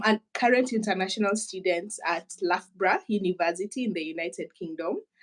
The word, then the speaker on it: Loughborough: When I saw the name of the university, I was like, is that Labro? How do they say it? Loughborough.